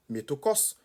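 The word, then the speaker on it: μέτοχος: Gagnait métokos, la CH prononce comme K, métokos.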